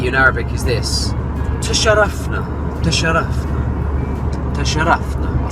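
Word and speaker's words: تشرفنا: 4 kind of syllables. Ta-sha-raf-na. Now the ta is a soft ta at the front of the mouth. Ta, ta, ta. Not a ta, but a ta. Ta, sha, sha.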